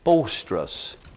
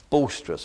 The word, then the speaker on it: boisterous: the 32nd word of word number 32 is bolstress boisterous b-o-i-s-t-e-r-o-u-s Boyce boisterous actually probably be a correct pronunciation boisterous it's only found